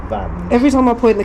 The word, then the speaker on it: Vange: well I looked up and it is apparently pronounced Van Every time I point the camera away it